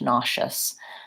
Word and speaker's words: nauseous: chefs and unstressed schwa nauseous and the s in this case is the SH sound nauseous yes okay so great